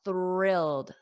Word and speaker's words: thrilled: the the r thrilled now of course it happens very quickly that my tongue is between my my teeth but if your tongue is not between your teeth you will not pronounce it correctly thrilled repeat after me thrilled thrilled and notice that e d at the end is a soft d d d a softy thrilled thrilled she's thrilled and